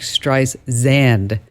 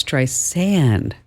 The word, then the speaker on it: Streisand: She was saying it like Streisand. And she's like, no, it's Streisand, like sand on a beach.